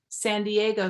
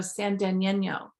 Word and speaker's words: San Diego: own example um she for years was calling San Diego San Deno so when she was younger than 11 and